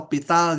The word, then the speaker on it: L'Hôpital: yang disebut aturan L'Hôpital, pengucapannya adalah L'Hôpital, kan? Beberapa buku mengeja L'Hopital dengan huruf S, misalnya, "Lopital" dengan huruf A.